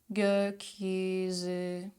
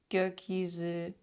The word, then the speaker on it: gökyüzü: Gül, gül, söz, söz, gökyüzü, gökyüzü, gözlük, gözlük, görüntü, görüntü. See how everything is at the front.